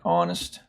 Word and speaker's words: honest: and then we have the H of course of horn and again uh that letter is silent in words such as honor and honest now the next column